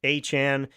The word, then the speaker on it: Etienne: a back injury, an offseason acquisition of Travis Etienne Jr., who likes to now be called Achan. He said that Etienne is pronounced Achan.